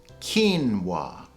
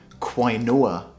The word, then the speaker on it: quinoa: They say something like quinoa, but the proper pronunciation is quinoa. Quinoa.